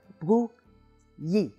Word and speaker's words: Brouilly: So you have bru, yi.